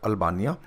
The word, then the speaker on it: Albania: Tirana, Republic of अल्बानिया, अल्बानिया बोलो, अल्बेनिया बोलो, आप कुछ भी बोल सकते, प्रोनाउंसिएशन कैसे भी हो सकती है।